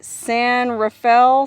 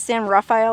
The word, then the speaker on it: San Rafael: I still don't know if it's San Rafael or San Rafael I'm assuming it's San Rafael because well there's a town in the San Francisco Bay Area where I'm from called San Rafael it's pronounced Rafael anyways it's called the